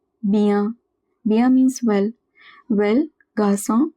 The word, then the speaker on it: bien: IEN is always at the end of a word, it is pronounced as ia. For example, rien, bien, bien.